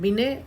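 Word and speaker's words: Binet: उसमें आएंगे सारे टेस्ट ये स्टैंडर्ड बिने इसमें टी साइलेंट होता है बीने में स्टैंडर्ड बीने इंटेलिजेंस स्किल होता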